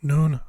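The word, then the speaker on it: νῦν: what someone Ada main which means month ipsilon noon which means now Omega F which means light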